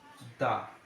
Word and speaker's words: the: Hello students, আজ আমরা English গ্রামারের একটি গুরুত্বপূর্ণ টপিক নিয়ে আলোচনা করতে চলেছি, যেটা হচ্ছে প্রোনাউন্সিয়েশন অফ দা, অর্থাৎ প্রোনাউন্সিয়েশন অফ দা।